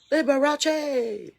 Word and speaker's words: Liberace: Like that's his and Liberace like Liberace. Like he gets all four syllables.